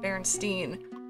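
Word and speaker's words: Berenstain: she always prints at berenstein so when my mom got me some of the books i remember looking and thinking myself it's spelled like einstein that's why she say steen it's a memory i've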